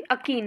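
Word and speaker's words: achene: what did आई से एक्ने, sorry वो video बनाते बनाते थोड़ी सी मिस्टेक हो गई, अकीन, the correct pronunciation is अकीन, जो फ्रूट है इट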